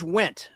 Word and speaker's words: Wendt: It's George Wendt. Spelled with a D. The D is silent. Oh, yeah. There's George Wendt from Cheers.